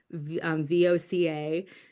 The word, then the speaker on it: voca: And then it kind of came from there, from just that simple VOCA. In Latin, you would say voca. The V is pronounced as a W.